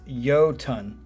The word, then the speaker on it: Iotunn: First off, the band is pronounced Iotunn. Oh, really? I never would have guessed that. Like you are saying hello to something that weighs 2,000 pounds.